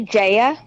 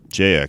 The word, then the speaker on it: Jaya: guest name - I assume - did I pronounce that right it's actually Jaya Jaya got it yeah a lot of people get